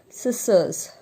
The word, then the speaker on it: scissors: Scissors. And the last one is scent. Scent. The peculiarity of all these words are every word has C in that, but we will not pronounce that C.